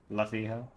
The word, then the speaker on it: Luffy: Luffy. Yeah, but it's pronounced Luffy. Just FYI. Monkey D. Luffy.